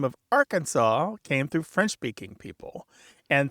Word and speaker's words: Arkansas: But the name of Kansas came through English-speaking people, and the name of Arkansas came through French-speaking people. And so the French would not pronounce that final S.